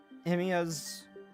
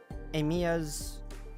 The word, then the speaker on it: Amiya: We got the news early thanks to Emiya's comms gear, but the other team didn't.